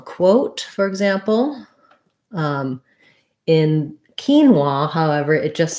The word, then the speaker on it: quinoa: e here and kin wa the o a says the a w sound and an ah sound so first syllable stress so basically if you think about it like keen wah quinoa um yes quinoa all